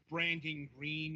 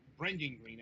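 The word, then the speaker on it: Brendan Greene: a controversy, but um, the what Branding Green or Brendan Green actually, I believe that's that's pronounced.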